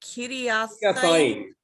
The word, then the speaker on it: Kiriathaim: What? Is it Kiriathaim? It's Sheva Kiriathaim.